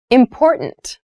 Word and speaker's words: important: The pronunciation of this word, that first T, is actually reduced. It sounds more like a D in fast speech.